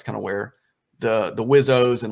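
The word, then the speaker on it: WSO: weapon systems officer or they call it whizzo is the term how you pronounce it and so in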